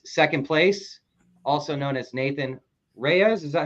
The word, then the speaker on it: Nathan Reyes: with me is second place also known as Nathan Reyes is that how you say your name that's